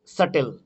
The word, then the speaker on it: subtle: ঠিক তেমনি date, doubt, এখানে হচ্ছে সাটেল, SUBTLE, এখানে বি কিন্তু সাইলেন্ট, সাটেল, SUTLE, সাটেল।